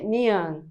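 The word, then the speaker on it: 니은: Então, vamos agora para a consoante nian. Nian. Essa consoante se chama ni-an.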